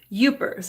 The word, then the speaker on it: Yoopers: the people that are in the upper penances Yoopers and that's for you P but we say it you know it's pronounced y oo pers and the people in